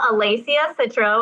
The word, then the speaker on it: Alessia Citro: So today I have Alessia Citro. I pronounced that right.